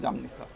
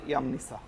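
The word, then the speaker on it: Jamnica: আমি যখন প্রথম ক্রোয়েশিয়াতে এসেছিলাম আমিও বলেছিলাম জামনিসা, কিন্তু আসলে এটা জামনিসা না। ক্রোয়েশিয়ান ভাষায় এটা হবে হচ্ছে ইয়ামনিসা। ক্রোয়েশিয়াতে আপনার এই জেকে এরা ই বলে, ই উচ্চারণ করে।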